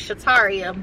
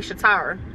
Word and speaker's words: Shataria: I do that with my name because my name is Shataria, but I let people call me Shatara.